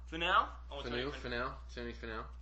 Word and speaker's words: Finau: Finau. Finau.